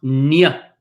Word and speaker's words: gn: GN is pronounced nia. Nia. Similar to the word onion, like that, like kind of like an NI if you had to do an English and not a Spanish letter.